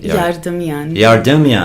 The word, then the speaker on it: Yardemian: How do you pronounce Yardemian. your name properly? Yardemian.